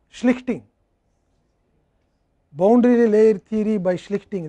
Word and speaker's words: Schlichting: Schlichting, that is German words are very difficult to pronounce. You have to say Schlich ting.